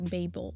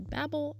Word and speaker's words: Babel: couple quick side notes b-a-b-l-e can be pronounced either babel or babel i pronounce it like the latter and i-n-e-s can be